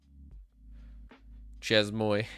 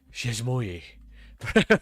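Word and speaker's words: chezmoi: Chesmoy. I'm saying that wrong. I remember I did a video on it, and it, like, manages your dot files. And everyone in the comments were like, it's pronounced Chesmoy. or something like that.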